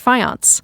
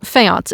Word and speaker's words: faience: the world is actually colored fiance or fiance if you prefer that pronunciation.